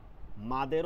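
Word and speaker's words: مد: মাদ হচ্ছে আরবি শব্দ এটা মদ না এটা কি মাদ এটা উচ্চারণ সঠিক উচ্চারণ মাদ মদ বলা উচিত না মাদ এইটার একটা বিপরীত শব্দ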